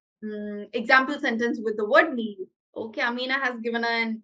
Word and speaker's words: milieu: I think it's milieu. Yeah, it's milieu.